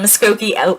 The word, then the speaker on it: Muskogee: Your great-grandmother, who is known as an accomplished pianist, organist, and singer, is from Muskogee, Oklahoma.